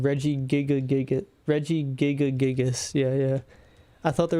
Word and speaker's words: Regigigas: Regigigas because of design.